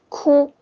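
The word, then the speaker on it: 哭: remember so cry it's cool pronunciation is only cool it's not cool don't forget it's not cool it's cool the first time so why are you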